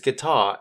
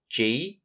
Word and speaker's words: guitar: a song on his guitar as an apology. For spelling, start with the GU and sound out the rest. I for the short I sound and TAR for the rest. G-U-I-T-A-R spells guitar.